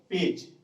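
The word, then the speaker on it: page: के आगे ई है, तो जब जी के आगे ई हो तो उसका उच्चारण होता है ज। जैसे देखिए क्या हुआ पेज, इसका उच्चारण क्या करेंगे ज, पेज, पेज मीन्स पेज।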